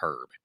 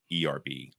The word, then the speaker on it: herb: have an h on if you don't want the h sound you like the whole i like the herb phonics right you want to yeah hooked up go to a dictionary and look up phonetically it's probably herb yes herb smith he said everybody says pronounced that says like erb right we should look